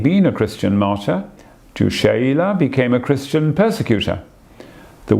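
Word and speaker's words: Chayla: after la mwan de baville francois de lange pronounced sheila arch priest of the seven and inspector of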